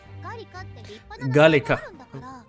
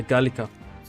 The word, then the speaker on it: Galika: Galika. It's better to pronounce that way. Galika.